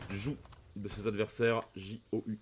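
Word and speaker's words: joug: jou de ses adversaires j o u g je crois que ça se prononce jou pas j je vous laisse me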